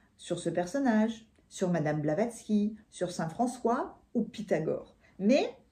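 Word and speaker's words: Blavatsky: pardon parce que je dois très très mal prononcer Sonon nom a vécu en Inde au 19e siècle madame blavaxi oh j'ai du mal avec les noms aujourd'hui pardon madame blavatski une des fondatrices de la théosophie à rencontrer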